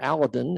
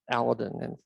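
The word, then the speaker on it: Aladin: of some of the big telescopes aladdin or aladdin as it's pronounced the the french shelliac crew came over and i asked francoise and how the heck do you say this and it's aladdin in french okay so i sat corrected access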